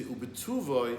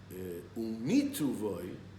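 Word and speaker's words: ובטובו: He says in benching bituvoi in his goodness. That's the correct way. Umituvoi, how is a bor? That's wrong.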